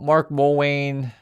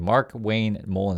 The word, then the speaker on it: Markwayne Mullin: Mark Mullin um if you guys are Mark Yeah, Markwayne Mullin. Sorry, I said his name wrong. Mark Why am I calling Mark Mullin? Markwayne Mullin is his name.